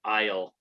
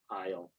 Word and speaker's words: aisle: way of this word isle isle are you yeah the s is silent and that is the